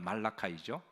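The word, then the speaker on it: Malachi: 말라기라는 말은 말라카이라는 말을 영어 발음을 이제 영어 발음은 말라카이죠 근데 우리나라 말로 그렇게 의역을 하다 보니까 그냥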